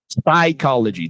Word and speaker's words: psychology: Psychology. The P is silent.